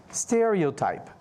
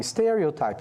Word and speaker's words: stereotype: Se ela está aqui, significa que stereo é a sílaba tônica da palavra. Então, stereotype, não vai ser stereotype, não, stereotype, ok? E a gente tem ela aqui de novo, ó, prejudice, prejudice.